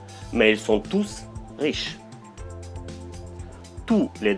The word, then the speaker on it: tous: ils sont tous riches tous les dentistes l'adjectif le s ne se prononcent pas ils sont tous aux normes avec le s qui se prononce trois numéros 3